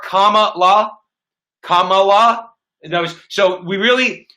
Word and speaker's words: Kamala: want to mention that her name is comma like the punctuation mark comma law kamala knows so we